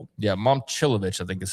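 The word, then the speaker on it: Momčilović: Is Mom Chilivovich, is that how you say it? Chilovich.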